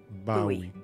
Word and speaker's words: Bowie: It's actually pronounced Bowie. Α, What? Bowie. Οκ, No, συγγνώμη. it's like the last name, like David Bowie.